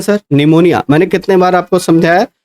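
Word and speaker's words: pneumonia: और इसमें पी जो है वो साइलेंट है। जैसे आप सुनामी लिखते हो। सुनामी में टी साइलेंट होता है। वैसे निमोनिया में जो है वो पी साइलेंट है।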